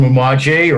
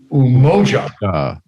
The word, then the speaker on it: Umoja: want to thank um the folks from umaji or or um i'll say it right umoja moja thank you mendoza